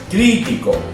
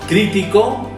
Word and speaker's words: crítico: ¿Veis que es la primera, es la misma palabra, pero con una acentuación diferente? Dependiendo donde vayas a acentuación o donde esté la palabra, la sílaba tónica, será aguda, llana o esdrújula.